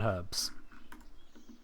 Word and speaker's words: herb: 261 herbs in Cathabe in less time than it takes you to uh make an entire inventory of potions. Anyway, you've got British people pronounce the H.